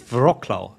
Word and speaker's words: Wrocław: Is No, it's going to be a v in it. Yeah, it's like a v. I don't know. It depends. Just like Wrocław.